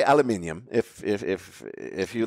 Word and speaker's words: aluminium: steel and iron cement aluminium by the way aluminium is the correct pronunciation production i was going